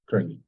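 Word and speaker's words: Україні: Ukraini. Sorry, I missed it. Try to pronounce yi. Yi. Yi. Ukraini. If you can pronounce yi, then you can.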